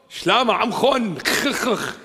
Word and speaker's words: Shlama amkhon: Shlama amkhon. You got to say it with a kh.